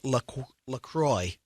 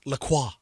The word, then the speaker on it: LaCroix: so officially it is lacroix rhymes with enjoy not lacroix it's good stuff good